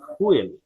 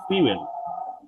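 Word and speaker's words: fuel: প্রথম শব্দটা, এটা আমরা সবাই অনেকেই ভুল উচ্চারণ করি, এটাকে আমরা বলি ফুয়েল। এটা উচ্চারণ ফুয়েল না, এটা উচ্চারণ হচ্ছে ফিউয়েল।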